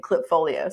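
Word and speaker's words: Klipfolio: And then where we've landed for small business, currently we're using Clipfolio. So it's spelled with a K, KLIP, Clipfolio.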